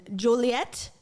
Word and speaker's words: Joliet: Well, thank you for making time and coming on and talking about your experience in Joilet. Am I saying it right? Yeah, Okay. Joliet.